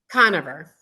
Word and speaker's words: Conover: how do you say your last name coner coner and she said we're gonna talk about